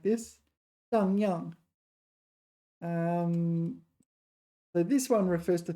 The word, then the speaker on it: 荡漾: And I got the pronunciation right. Wow. Young. Dang yang. Okay. Dang yang.